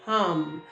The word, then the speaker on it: hum: Begin to speak the word or say the sound hum. It's spelled like ham, but it's hum, hum.